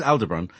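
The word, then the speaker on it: Aldebaran: don't emphasize the so you don't emphasize Al you emphasize the debron so to me that's how you'd pronounce it but I don't know who am I but um so there's Al debron and then um they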